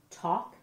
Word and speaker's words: talk: Talk is a little tricky to spell because that L is silent.